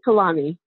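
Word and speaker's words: Kehlani: know I'm listening to I'm gonna probably say her name wrong Kalani well that's right Kalani yeah I yes I'm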